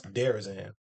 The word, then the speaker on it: DeRozan: And down here, his family's last name is actually they pronounce Derazan. And it's different because they be saying DeRozan and stuff.